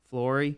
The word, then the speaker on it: Fleury: Yeah, Fleury, San Francisco 49ers.